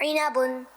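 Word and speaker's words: عِنَبٌ: उस फ्रूट की अरबिक है इनाबुन। मेरे साथ मिल के पढ़ें, इनाबुन इनाबुन इनाबुन। आइए इसकी हिज्जे भी कर लेते हैं। आइन जे ई, नून जबरना, इना, बा दो पेश बुन, इनाबुन।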